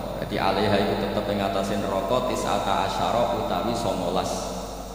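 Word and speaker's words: تسعة عشر: alaiha itu tetepatase neroko tisata Asaro utawi 19ong tetap bacanya bukan tisatu asyarin tapi tisata asar jadi kita tahu secara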